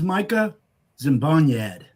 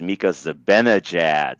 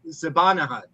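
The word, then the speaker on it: Mika Zibanejad: him about five years to be able to pronounce this name correct. Okay, this is this is Micah Zimbad.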